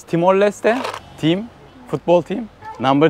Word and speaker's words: Timor-Leste: Timor Leste diye yazılır, Timor Leste diye okunur. Aynen bu şekilde şu an ülkenin resmi ismi.